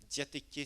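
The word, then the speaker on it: διαθήκη: Diatéké, c'est D-I-A. D-I-A-T-E-K-E. Diatéké, comme ça se prononce.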